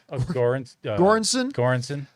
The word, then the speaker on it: Göransson: Göransson.